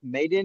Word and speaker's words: Maiden: know and then you your name pronounced maiden or mad I just want to make sure m m yes yes Maiden I think like a